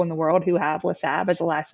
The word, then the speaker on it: Lassabe: Lassabe, what's going on? Hey, thank you for having me. Thank you for pronouncing my middle name correctly.